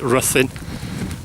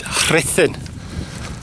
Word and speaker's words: Ruthin: Some people call it Ruthin, but its correct pronunciation is Rhythin.